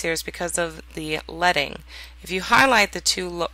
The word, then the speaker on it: leading: Leading, although it's L-E-A-D-I-N-G, is pronounced leading, is the space between the lines.